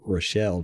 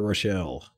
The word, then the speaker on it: Rochell: can't remember oh robert rochelle or rachel i don't know you know how i'm about pronouncing that let me look at it r-o-c-h-e-l-l oh i would say rochelle that's what i said